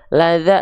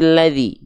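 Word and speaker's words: الذي: Maka ketika kita baca ara'aital ladzi, bukan laza, lazu, tapi ladzi.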